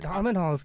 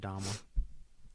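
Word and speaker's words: Domhnall: I believe you pronounce it Dommel. Dominal? Are you sure? Is the H silent? Pretty sure, as far as Irish names go.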